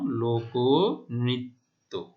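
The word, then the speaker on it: লোকনৃত্য: তাহলে মধ্য অ এর উচ্চারণ রিকার, মধ্য অ এর পরে রিকার, তাহলে মধ্য অ এখানে ক তারপরে রিকার রয়েছে, সে তাহলে কি হবে, মধ্য অ এর উচ্চারণ ও এর মতো হবে। কেমন, লোক নৃত্য। ঠিক আছে, তাহলে মাঝখানের অ এর উচ্চারণ ও এর মতো হয়েছে, এই যে আমরা দেখতে পাচ্ছি অ ওকার।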